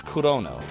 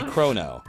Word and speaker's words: Chrono: wait a minute well in Japanese it's corono right is how you would say it corono it's me quietly playing the game in the back so it would be krono so his name would